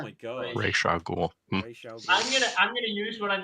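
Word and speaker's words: Ra's al Ghul: Clint says, "Thank you, Dev, for pronouncing Ra Al Ghul properly." So there we go. How is it? Raish Al Ghul.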